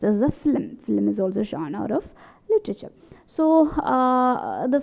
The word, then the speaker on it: genre: talk about a genre a genre is a french word uh it's a the